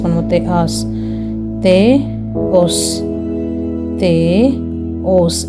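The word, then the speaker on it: Θεός: தேஆஸ், தேஓஸ், தேஓஸ். இது நம்ம தேயோஸ் அப்படின்னு நம்ம ரீட் பண்ணல, தேயோஸ் அப்படின்னு ரீட் பண்ணாமல் தேஓஸ்.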